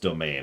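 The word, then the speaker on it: demesne: a little bit um desmondsey okay do it better financially doing better in terms of titles and our biggest rival is gone yeah I know it's pronounced domain I like to say demenzi because I'm weird or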